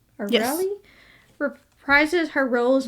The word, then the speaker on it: O'Reilly: O'Reilly?